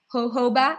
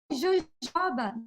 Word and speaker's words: jojoba: And they wrote it down like jojoba, jojoba, but it's jojoba, okay?